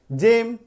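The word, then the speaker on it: gym: तो ध्यान क्या रखना है कि अगर किसी शब्द में जी के बाद ई आई वाई हो तो जी का उच्चारण ग नहीं ज होता है। ज यानी कि जे। एग्जाम्पल क्या है? जी ई एम, जी के बाद क्या आ गया? ई आ गया, जेम।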